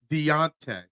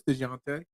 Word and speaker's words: Dejounte: You said Deontay. Did I miss the J? I know it's DeJounte.